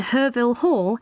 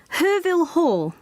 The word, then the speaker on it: Herville Hall: all the new students will be gathering in herville Hall at nine o'clock sorry where herville Hall I'll spell it for you it's h e r v